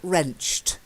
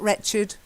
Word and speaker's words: wrenched: the same as April wrenched not wretched wrenched silent e wrenched that's it quarrel when